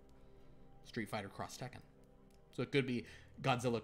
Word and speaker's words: Street Fighter X Tekken: Oh, Street Fighter X Tekken, they pronounce it Cross Tekken, according to Galanorian Saber. Street Fighter Cross Tekken.